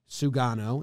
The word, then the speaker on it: Sugano: the us he's being posted learned the name sugano is how i have found to pronounce it so he's not like a rinky